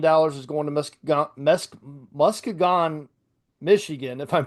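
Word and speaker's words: Muskegon: $70 million is going to Musk Musk Muskagon, Michigan, if I'm pronouncing that right. 16 Muskegan.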